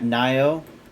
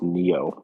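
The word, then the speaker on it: Nioh: You got Nio and Nio2. I think they're pronounced Neo. Whatever. I call him Nio because it pisses people off and I think it's funny.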